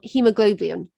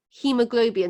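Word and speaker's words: haemoglobin: thing is it contains hemoglobin now this is a difficult word so let's see if i can spell it it's h a e m o g it's like goblin globin and then the final thing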